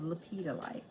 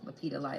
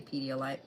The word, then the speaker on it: lepidolite: Lepidolite, lepidolite. I'm never going to say it right. I always want to say pediolite.